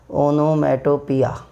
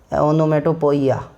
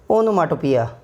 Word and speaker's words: onomatopoeia: बट the correct pronunciation of this word is, listen to it carefully, ओनोमाटोपिया, ओनोमाटोपिया, ओनोमाटोपिया, ओनोमाटोपिया। What is this? Onomatopoeia.